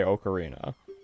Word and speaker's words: ocarina: in another language, and the way that that is pronounced is oka, not Aka. It's pronounced Oka, so I believe it is actually correct to say ocarina.